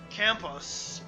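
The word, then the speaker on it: Camus: writing of Albert campus campus was a French philosopher so you got to say it like that and a novelist with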